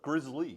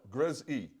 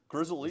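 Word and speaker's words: Grizzl-E: Grizzly. Grizzle. Grizzle E. Grizzle E. That's how they pronounce it.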